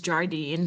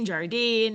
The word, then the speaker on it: Jardine: The one that comes to mind for everyone is Jardine, and everybody pronounces it differently. It's Jardin. Some people say Jardine. I'm sure there are other variations.